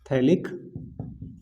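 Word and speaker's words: phthalic: क्या बोलते हैं, थैलिक एसिड बेटा, PH साइलेंट, थैलिक एसिड।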